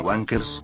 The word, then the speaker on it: Wang Cars: El nombre de esta empresa tiene dos formas de leerlo, ya que si lo pronunciamos todo junto en inglés sonará como Wankers, que significa pajeros.